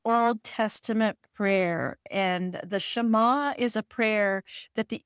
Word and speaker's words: Shema: and how he had a morning ritual through the is it the Shema prayer? Is that how you say it? It is the Shema, and I just learned it, Diane, because I recorded the audiobook and we looked it up.